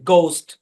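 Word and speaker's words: ghost: আচ্ছা, শব্দের শুরুতে জি এইচ থাকলে এই সাইলেন্ট থাকবে, জি উচ্চারণ হবে গোস্ট, গার্কিন, গ্যাটো।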